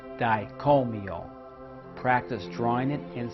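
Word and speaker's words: Dai Ko Myo: use suey master symbol it is pronounced diet call me all practice drawing it and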